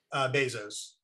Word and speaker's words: Bezos: How do you pronounce his name? Bezos.